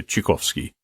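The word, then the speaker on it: Tchaikovsky: say his name yeah chikovsky right if you want to say if you want to be real Russian about it you can say chikovsky CH chikovsky something like that I have a very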